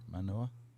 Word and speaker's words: Manoa: to offer Okay, you admission to the University of Hawaii at Manoa. Did I say it right? Manoa? Mm-hmm.